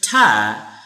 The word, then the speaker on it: to: But we will pronounce ta when the word after to is starting with the consonant sound.